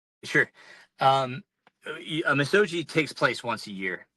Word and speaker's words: Misogi: Uh But yeah that's Next next one I got here and if I pronounce this wrong I apologize. Do you do you do a Mis- Mis- Misago? Misogi.